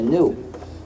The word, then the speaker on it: GNU: juegos de palabras, porque según el diccionario la G es muda. La palabra supuestamente se pronuncia new, es decir, nuevo.